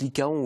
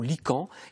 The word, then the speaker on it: lycaon: y ca ong pas ça se prononce lycaons ou lycans à les lycaons l'élégance